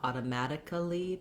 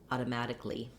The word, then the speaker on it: automatically: like two syllables there, and actually we really reduce it down to just one syllable so that A-L-L-Y on many words doesn't say ali, but rather li. Not automatically, but automatically. Go right from your k to your ul of li.